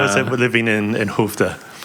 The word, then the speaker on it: Skövde: Skövde. Say it again? Skövde. Skövde. Oh, you're learning some Swedish. Yeah, you could never guess how it's spelled. It's like SKO with weird dots over it, a VDE. Skövde.